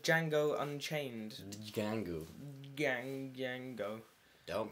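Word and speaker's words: Django: uh new film called Jango Unchained Gango gang Jango don't pronounce the d you don't pronounce the d but it's Jango and chained which was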